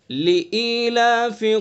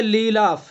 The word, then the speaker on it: لِإِيلَافِ: توجہ سے پڑھیں گے۔ جلدی میں ہم کیا پڑھ دیتے ہیں؟ لیلاف، لیلاف، یعنی حمزہ کو کھا جاتے ہیں، حمزہ کا تلفظ نہیں ہوتا ہے، تو اس لیے حمزہ کو صحیح طرح سے ادا کرنا ہے، صاف ادا کرنا ہے کہ حمزہ پڑھا